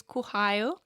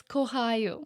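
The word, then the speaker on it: кохаю: And the word of the week is kuhayu. Yana, you're not even saying it right. How do you say it right? It's kohayu. Kuhayu?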